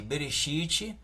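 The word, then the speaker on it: בראשית: Gênesis que significa em hebraico significa no princípio pronuncia-se beristite o livro de Êxodo que significa nomes em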